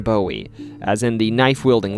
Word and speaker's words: Bowie: for Texas, where I mistakenly pronounced Bowie like David Bowie instead of the correct Jim Bowie, as in the knife wielding legend.